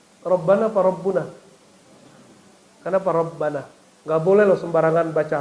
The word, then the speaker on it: Rabbana: barangkali dua kata maka tidak dibaca Malikul Mulki bacanya Ya malikal Mulki coba Antum doa Rabbana apa rabbuna Rabbana apa rabbuna Kenapa Rabbana enggak boleh loh sembarangan baca fathah jadi Al